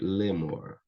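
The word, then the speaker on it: לאמר: Cai essa semivogal e eu tenho apenas um tsere, lemor.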